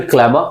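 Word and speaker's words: clamour: क्लैमर are silent होता है, चिल्लाकर या क्रोध में कोई मांग करना, इसका हिंदी मीनिंग हुआ।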